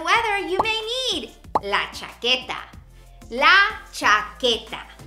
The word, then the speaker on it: chaqueta: Depending on the weather, you may need la chaqueta. La chaqueta. Now remember that Q-U-E, that U is silent.